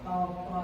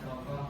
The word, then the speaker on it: tokoh: Ini bukan toko, tapi toko. Oke?